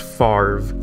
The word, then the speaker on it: Favre: ol brett favre but for some reason it's pronounced farve okay no well he